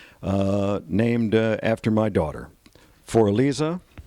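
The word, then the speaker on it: Für Elise: named after my daughter for Alisa um that's the German pronunciation of for Elise and uh the uh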